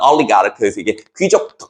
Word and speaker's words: oligarch: 이것도 응집성 있는, 결합력 있는 이고, 여기 이제 oligarch라고 발음합니다. oligarch.